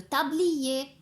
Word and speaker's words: tablier: voir le mot le tablier. C'est vrai qu'il y a à la fin la lettre R, mais je ne la prononce pas. Je ne prononce pas le son R. Le tablier.